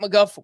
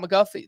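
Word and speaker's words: McGough: Scott McGuff walked one but struck out three. Who's Scott McGuff? That's spelled M-C-G-O-U-G-H.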